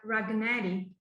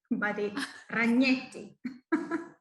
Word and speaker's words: Ragnetti: already pronounced very well because normally people pronounce my surname like ragnari and when i speak to not italian people i normally say okay my name is raganeni ragnetti yes you did i'm italian from